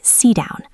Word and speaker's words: sit down: Sit has a stopped T because down starts with a D. So it sounds like sit down.